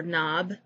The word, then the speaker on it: knob: the b is silent for knob the k is silent for doubt the b